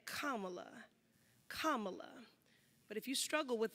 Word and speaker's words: Kamala: Afrocentric ethnic name myself say her name kamla Kamala but if you struggle with that Madam President